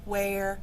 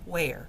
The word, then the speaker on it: where: It should rhyme with chair.